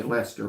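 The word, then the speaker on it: Leicester: at least Esther or I think y'all say Lester but it's it's spelled like Lee sister so you're near Asheville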